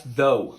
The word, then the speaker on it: though: Oh, yeah, that's though. Though. Okay. So then this must be throw? No, come on, that's obviously through.